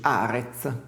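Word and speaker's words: ארץ: Terra in ebraico si dice così, Arez, e si scrive in questo modo.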